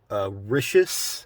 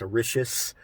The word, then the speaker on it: Orixás: So being able to be there and actually document what an Orixas, I think that's actually how it's pronounced, Orixas workshop, Symbology of Orixas